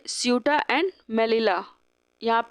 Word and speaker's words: Ceuta: दिख रहा है ना, इस एरिया को हम बोलते हैं स्यूटा। स्पेलिंग है CEUTA।